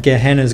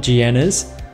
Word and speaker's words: Gehenna's Gold: so I put down gehenna's gold not Gianna's I learned how to pronounce that this week okay so the